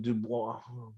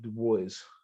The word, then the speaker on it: Dubois: First solve was in Dubois before I got Du Bois. I think it's how they pronounce it, right? Du Bois.